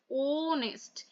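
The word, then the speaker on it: honest: অনেস্টে কিন্তু কোনো ফার্স্ট যে ওয়ার্ডটাতে এখানে কোনো ভাওয়েল নেই, কিন্তু সাউন্ডটা আসছে দেখো অনেস্ট, ওনেস্ট, ও উচ্চারণটা আসছে। ঠিক আছে, ভালো করে উচ্চারণ করে দেখবে যে দেখো ওনেস্ট উচ্চারণটা আসছে।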